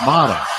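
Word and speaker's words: Mara: Mata, M-A-R-A, but pronounced Mata.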